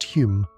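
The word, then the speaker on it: Home: That's Hume, but pronounced Hume because Victorians love being confusing.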